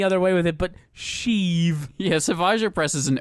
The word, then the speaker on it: Sheev: They say it like Sheev Palpatine.